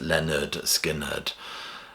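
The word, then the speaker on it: Lynyrd Skynyrd: So number 10 is Leonard Skinnard and pronounced Leonard Skinnard.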